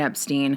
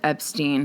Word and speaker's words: Epstein: The Beatles had a rule, an agreement between George Martin and Brian Epstein. Real quickly, Brian's last name in his personal life pronounced Epstein. In the public life, particularly in the US, they pronounced it Epstein